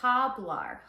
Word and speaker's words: hablar: speak and you say hablar HBL they're immediately going to know uhuh that's not correct because it starts with an h and you don't pronounce H's in Spanish so instead of HBL